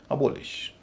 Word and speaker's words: abolish: पर नहीं होगा, और जब नहीं होगा तो उच्चारण हल्का होना चाहिए। अबोलिश, ELICIT, यह भी वर्ब है।